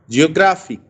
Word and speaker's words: geographic: For example, geographic. Now, fic is not stressed, but gra is stressed.